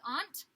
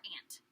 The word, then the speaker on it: aunt: So sometimes people pronounce this as aunt or aunt.